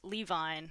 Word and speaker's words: Levine: in the psychological mechanisms Levi claims Levine excuse me pronunciation is important Levine CLA claims that to